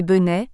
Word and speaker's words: Bentessé: Baptiste Bénesse reçoit l'autorisation du tribunal de transformer le nom de Bentessé, qui devait se prononcer Benet, nom peu flatteur, en Bénesse le 7 juillet 1855.